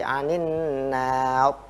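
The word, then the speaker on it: النار: Jika kita berhenti di nar, maka ro ini harus tebal. Anin nar. Tetapi yang tebal itu ro-nya, bukan alifnya. Ada yang membacanya anin nar. Itu salah. Ya. Di akhirnya berarti. Ro-nya yang tebal, bukan anin nar, tapi anin nar.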